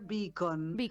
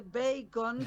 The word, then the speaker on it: Beacon: Ah, mi apellido se pronuncia beacon. Porque sí, porque quiere decir faro. Mucha gente me dice bacon, como si fuera panceta, pero se escribe sin la e. Mi apellido se escribe con la e.